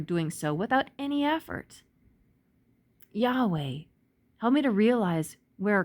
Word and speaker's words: Yahweh: And the Yod can be pronounced as a Yah or as a Jah. So it's Jerusalem or Jerusalem, Yahweh, Jahweh, Yehovah.